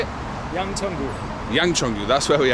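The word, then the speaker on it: Yangcheon-gu: of this District how do you say it Yang chongu Yang chungu that's where we are that is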